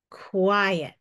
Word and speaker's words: quiet: if that's the case that means it's two syllables and then this is our first syllable and this is our second syllable so our first syllable would beq qu our second syllable I see e one vowel with a consonant after it that vowel is probably short now let's say it like a word Qui at quiet does that sound like a word you know it's pretty